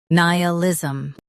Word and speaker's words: nihilism: In US, stress ni. In UK, stress ni instead. Nihilism.